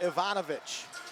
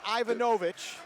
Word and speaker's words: Ivanovitch: into second syllable n4 Ivanovitch look that end is with the second syllable not ivanovych it's Ivanovitch SSN as we can